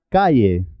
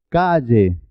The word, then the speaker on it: calle: lluvia Valle bella vaya muchas personas pronuncian calle como si fuera una I no es correcto es calle lluvia vle bella vaya la